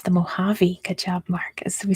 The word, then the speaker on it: Mojave: the Northern Territory yeah it's spelled with a J but it's pronounced like an H because it's some Spanish um let's see what